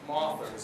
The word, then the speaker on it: mothers: specific, we call ourselves mothers. And as my friend Marie Wynn likes to say, mothers rhymes with authors.